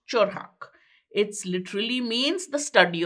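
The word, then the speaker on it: 철학: The word of philosophy in Korean is pronounced chorhak.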